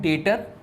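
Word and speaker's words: debtor: है दो चीज आता है एक होता है डेटर इसको डेटर बोलते हैं बेटा याद रखिए डेप्ट नहीं बोलेंगे क्या बोलेंगे इसका प्रोनंसिएशन इसका होता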